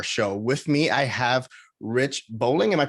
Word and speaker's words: Rich Boling: the moga bar show with me i have rich bowling am i pronouncing that right or that's correct excellent perfect